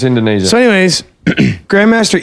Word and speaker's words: Indonesia: It's Indonesia.